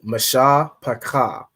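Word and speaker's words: mishpacha: So that CH is pronounced as like a ka. It's not ka. That would be like the KA, the ka. It's more like and it's not ha. That's ha. It'd be like ka. right? Like in what's the word that has ka in it? This word, ISUPK, right? You pronounce it like that.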